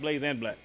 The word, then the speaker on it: Blaze X Black: But it's pronounced Blaze and Black.